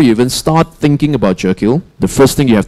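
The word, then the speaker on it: Jekyll: This is called Jackal, right? So any alternative pronunciations? No? Jackal?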